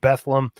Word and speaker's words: Bethlehem: nazareth egypt bethlehem um also if you're from the lehigh valley it's pronounced bethlehem um and bath nobody